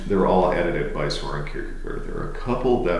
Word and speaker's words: Kierkegaard: the name of Soren Kierkegaard. Right. Actually, his name is spelled and pronounced more like Shecha, but we don't do that. It's Kierkegaard, as far as I'm concerned.